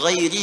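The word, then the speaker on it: غيرِ: Qara al-jumhuru ghairi bil jar. Mayoritas ahli qiraat membacanya menggunakan kasrah, ghairi, i.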